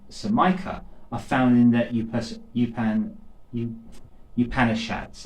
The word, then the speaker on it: Upanishads: So, some of the early references to meditation, as well as Samkhya, are found in the Upanishads, it's called. This is how you pronounce it.